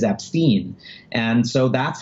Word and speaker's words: Epstein: saying the name incorrectly the correct way to say it is AB Steen and so that's how